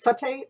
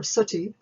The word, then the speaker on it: sati: Let's consider the condition either pronounced sati or suti.